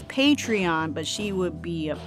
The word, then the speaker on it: Patreon: my saying it right patron patron patriot it's patreon but she would be a patron right anyways